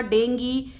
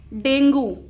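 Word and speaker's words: dengue: They spread diseases like malaria, डेंगी से sometimes people से डेंगू, सो बट the right pronunciation is डेंगी and chikungunya.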